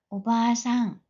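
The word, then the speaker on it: おばあさん: 마찬가지로 할머니도 오바상 좀 길게 발음합니다.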